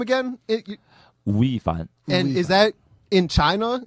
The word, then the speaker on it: 吳亦凡: That's my Chinese name, Wu Yi Fan. It's going crazy, right? How do you say it? Wu Yi Fan. Wu Yi Fan?